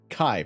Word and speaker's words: chi: chai x is uh chi pronounced like archive kai kachai is t